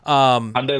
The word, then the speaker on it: Hyundai: Hyundai like Sunday. That's the big one. Oh, That's the big Hyundai like mnemonic. Sunday.